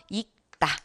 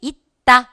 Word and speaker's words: 있다: 그래서 있다 이렇게 되는 겁니다. 거기 있다 이렇게 디귿으로 발음됩니다. 얘 시옷이 호받침에서 디귿으로 발음되니까요. 되시겠죠?